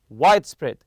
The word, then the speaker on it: widespread: actually white and spread when you put them together in a compound noun it's widespread in recent years capsules capsule hotels have gained a widespread popularity also remember to stress the first part here in the hotel